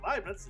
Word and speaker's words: Leibniz: I was saying Leibnizstrasse, which is it's Leibniz, it's L-E-I.